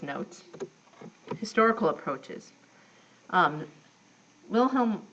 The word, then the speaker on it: Wilhelm: notes historical approaches um Wilhelm want or vilhelm V if you want to pronounce it the proper German Way created structuralism um within